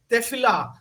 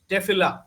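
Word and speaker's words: Tefillah: दूसरा चीज है टेफिला। इसका स्पेलिंग है टी ई एफ आई एल एल ए एच टेफिला। टेफिला क्या होता है?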